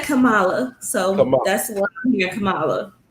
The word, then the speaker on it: Kamala: um pronouncing her name is it kamala or kamela she said kamala so that's what your